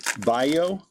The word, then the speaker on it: Bello: I think I heard they pronounce this guy's last name is Bayo, not Bello, Bayo.